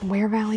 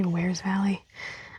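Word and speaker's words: Wears Valley: So this is a quick way into the park is from Where's Valley which it's wear valley but we always say we's valley.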